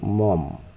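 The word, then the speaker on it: Maugham: উচ্চারণটা কিন্তু মম, William Somerset মম।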